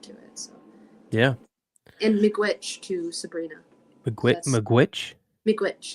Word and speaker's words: miigwech: and miigwech to Sabrina.